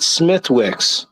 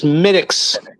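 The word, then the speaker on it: Smithwick's: the show craft beard never pronounce it Smithwick it's SMX yeah I don't want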